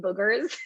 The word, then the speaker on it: booger: just to be correct booger is spelled with two o's if you say it with the u you're saying bugger which means something different it's like a british term okay so a stuffy